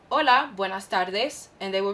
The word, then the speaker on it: hola: familiar so hola repeat hola remember in spanish that the h is silent so you would never say hola no you'd say hola which would mean hey